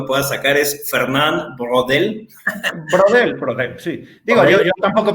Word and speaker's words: Braudel: Braudel, sí. Digo, yo tampoco pronuncio como francés y nunca lo vamos a lograr, evidentemente, ¿no?